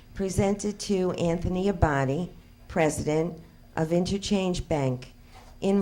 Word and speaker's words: Abadi: I believe I owe you an apology I'm pronouncing your rent your last name incorrectly a body I'm sorry now I can upon formal presentation pronounce it correctly presented to Anthony Abadi president of interchange bank in recognition and with